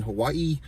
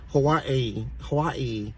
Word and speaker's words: Hawaii: It's like Hawaii, like she pronounces every A and I, Hawaii, and then she's always saying aloha, the spirit of aloha, you know what I mean?